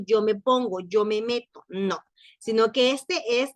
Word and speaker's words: mets: Las primeras tres conjugaciones singulares suenan igual, aunque se escriben con S y la otra no, suenan igual, porque la S es una de las letras mudas en francés.